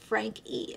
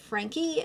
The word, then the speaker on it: Franke: seen videos here and there but she actually pronounces it Frank E so I stand corrected I will going forward be pronouncing it Frankie and that is my correction for today but